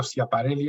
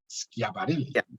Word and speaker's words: Schiaparelli: Me pasó toda la vida diciendo Schiaparelli hasta que un italiano me dijo que se pronuncia Schiaparelli, ¿no? Y desde entonces ha sido para mí como, Dios mío, le pido perdón por las miles de veces que he pronunciado su nombre mal pronunciado.